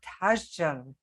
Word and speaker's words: Tashjian: and today I'm very excited to have Donna tajan do I pronounce it right Donna you did thank you